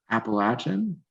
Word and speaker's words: Appalachian: he wait how do you say it again Appalachian Appalachian you said it right oh I thought